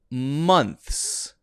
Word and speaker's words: months: words i'm sorry but you've got to say the th and then the s so this one is months months and if you say months months like m-u-n-t-s people might look at you strange what what months what's up months i know someone named months no months months and the tongue does come out there between the teeth like that it's